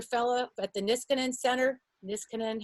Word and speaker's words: Niskanen: Niskanen, how do you say that? Niskanen Center.